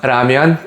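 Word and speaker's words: 라면: It's pronounced ramian if you're going Korean mode, but we're going to stick with ramen just because that's what everybody knows.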